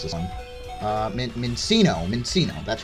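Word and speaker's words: Minccino: How do you even pronounce this one? Mincino.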